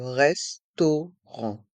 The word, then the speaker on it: restaurant: Poste le restaurant Le restaurant dans le mot restaurant les voyelles a et U font le son o to et les lettres a et N pr le son en r restaurant et le T est